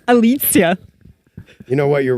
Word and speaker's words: Alicja: Alicia Haas. And I pronounced that perfectly, didn't I? You know what? Didn't I? Well, actually, you don't. Oh, geez. See? It's Alicja.